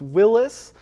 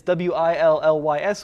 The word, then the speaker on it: Willys: Is it Willys? Is it Willis? Cuz the guy technically was probably pronounced Willis, but it's W I L L Ys. Everyone says Willys. Even the folks over at Chrysler Jeep Dodge, you know, they say Willies. Yeah. So I'm going with it.